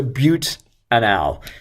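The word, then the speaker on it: butanal: anal but anal okay so but anal is the way we would pronounce it um so I'm looking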